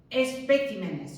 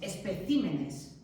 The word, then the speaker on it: especímenes: El plural de espécimen no es especímenes, no, es especímenes.